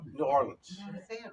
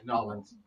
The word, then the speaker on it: New Orleans: And one of the stops is New Orleans. Got to say it right. New Orleans. It's like 2 syllables.